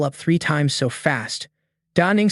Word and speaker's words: Da Ning: Y lamb. Did I hear wrong? Or did they mispronounce? Da Ning quickly corrected. First, I want to say my name is Da Ning, not Y Lamb.